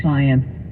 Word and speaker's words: Zients: Zients? Yeah, like science.